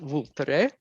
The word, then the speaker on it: Vulture: a alianico del voltare looks like vulture when you write it in english but it's pronounced vultre was is an extinct